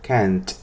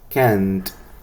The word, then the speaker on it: can't: Entonces es por eso que la T debe sonar al final. Can't. Can't. Repítalo. Can't. Eso. El sonido debe ser explosivo al final.